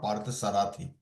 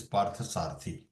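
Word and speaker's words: Pārthasārathi: of that same now the pronunciation of Pari not par sarati it is PARTA sarti the one who is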